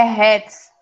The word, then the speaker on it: Hertz: É Hertz, se pronuncia.